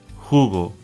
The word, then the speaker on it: jugo: The letter J makes the H sound. Jamón, Jorge, jugo.